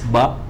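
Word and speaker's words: باء: If there's an equalizer, when you recite this ba, the second part of this ba, it will be like this. Ba. See the equalizer. So I go up, prolong at alif, ends at hamzah.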